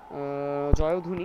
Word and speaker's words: জয়ধ্বনি: ওকে, আমরা যদি পরের প্রশ্নে যাই, জয়ধ্বনি শব্দটির সঠিক উচ্চারণ কোনটি?